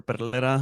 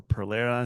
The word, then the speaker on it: Perera: my turn uh and my name is Pera or Perera if you can't roll your RS um I am a